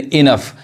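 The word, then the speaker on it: enough: यहाँ पे जो जीएच है, इस जीएच का उच्चारण क्या है, फ है, एफ है, समझ में आ रहा है, फ पढ़ाएगा, यानी इनफ।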